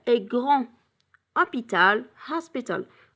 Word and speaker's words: hôpital: Cet hôpital est grand. Hôpital, hospital. Hôpital, ça commence avec un H muet. It's a silent H.